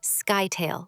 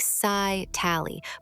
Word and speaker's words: scytale: It is usually said scytale, like sci-tally, but your description is already basically the whole trick.